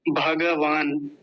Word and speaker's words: भगवान: बोला जाता है लेकिन इसको पता है संस्कृत में क्या बोलेंगे भगवान भगवान हिंदी में क्या